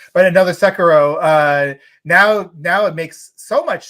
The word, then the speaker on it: Sekiro: And now something like that, where you probably were like, well, I don't see Activision Blizzard, going for another Sekiro. Been saying it wrong, but another Sekiro.